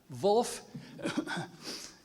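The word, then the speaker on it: Volf: s l a v Wulf is spelled with a with a V not a w as Germans might say it's v o l f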